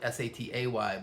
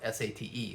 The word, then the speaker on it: sate: Now, I know here in the US we spell it S-A-T-A-Y, but the Indonesians spell it S-A-T-E, so it looks like sate. So it's like satay.